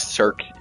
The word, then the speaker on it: Cirque: It's Cirque. It's Cirque du Soleil. Like it's a weird French pronunciation, but the way that we say it in America is Cirque du Soleil.